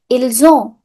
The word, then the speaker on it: ils: Not ils, il. Last S is silent. Il. Ils ont.